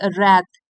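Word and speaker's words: wrath: थी ऑफ her father's रथ W silent है इसमें रथ मतलब क्रोध से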